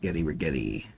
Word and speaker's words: Rigetti: Rigetti. Rhymes with spaghetti.